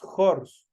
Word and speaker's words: horse: aquí una H pero esta H se transforma el solo el momento de pronunciar se transforma en una j y decimos jors jors caballo entonces decimos a